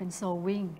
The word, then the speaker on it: sewing: W I N G ก็ จะ กลาย เป็น โซ วิ่ง ใช่ นะ ครับ ก็ แปล ว่า เย็บ นัก